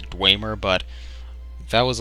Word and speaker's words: Dwemer: I used to call I think the technical pronunciation is Dwemer but that was like